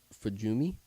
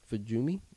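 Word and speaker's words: Fujimi: the road that was named fuumi fuumi I think is how you pronounce it f u j i Mi i fuumi f YouTube um but that means like Fuji viewing street so the road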